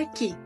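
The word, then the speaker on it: い: que es la letra i esta letra en esta imagen de fundación Japón se asocia con la i del kikiriki de los gallos aunque los gallos en japonés hacen Coque coco ahora bien importante Ahorita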